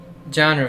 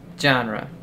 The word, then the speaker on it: genre: hall head named lucky coincidence i think not genre felix it's pronounced genre genre right thanks i read that word in